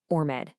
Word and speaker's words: UR Med: So, first things first, it's pronounced your med.